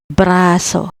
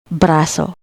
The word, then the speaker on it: braso: Next, we have the word braso, which means arm. The first syllable bra begins with BR or bara plus the vowel a. Next syllable so completes the word. So we read it as braso, braso.